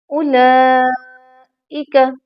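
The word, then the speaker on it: أولئك: इसको लंबा किया, कफरू, ऐसी जज़म इस वाव पर नहीं है, लिहाजा ये वाव साइलेंट है।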